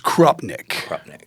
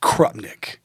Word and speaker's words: Krupnik: You just, it's Krupnik. Krupnik.